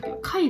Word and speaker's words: 貝: This kanji is pronounced "ka" (ex: "kagaku 化学" "henka 変化".) and this part...as you know, this is "kai 貝".